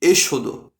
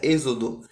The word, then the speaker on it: Êxodo: bíblias no livro de exôdo então por favor não confunda e se escreve com x mas é exodo tá pessoal É eu